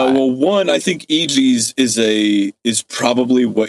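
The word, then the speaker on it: EGEZ: unveils his newest brand, EG's, spelled E G E Z. And I'm assuming it's pronounced that way because his early ad copy is to go, "Os," and then EG's next to it.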